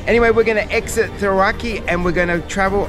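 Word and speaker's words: Cirauqui: Coming to the town of Thiraki, that's how they pronounce it, the locals pronounce it.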